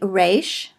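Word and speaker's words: ריש: Koff is called Cove finally race which is like our are only in four Hebrew speakers it's really a little bit more like a French art kind of spoken in the back of the throat hush don't worry too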